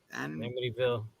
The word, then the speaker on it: Amityville: Amityville.